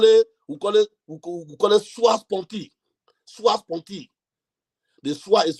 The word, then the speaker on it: sua sponte: own self request in law, we call it sua sponte. Sua sponte. The sua is spelled S-U-A, sua sponte.